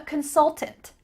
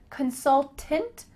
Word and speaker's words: consultant: I'm a consultant. You might say that full word like I just did, consultant, or you could kind of swallow that last syllable and say, I'm a consultant.